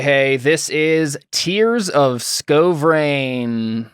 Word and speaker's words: Skovrane: this is tears of sko brain scovering it's pronounced like that exactly yeah okay sounds good